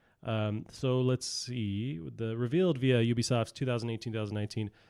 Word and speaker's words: Ubisoft: you go Ubisoft er Ubisoft well the correct pronunciation is Ubisoft so I try and pronounce Adobe soft hmm